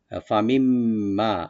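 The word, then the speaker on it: فَمِن مَّا: ফামিম্মা, ফা ওপেন রাখবেন, মিন নুন সাকিনের পর যে মিম আসছে, নুন সাকিনটা এখানে মিমের সাথে মিলাই পড়বেন, একদম গুন্না হবে এটা। ফামিম্মা, যে নুনটা মিমের সাথে মিলে যাবে, এখানে নুনটা উচ্চারণ হবে না।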